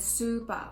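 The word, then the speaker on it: スーパー: Another example is spa, which means spa, and super, which means supermarket.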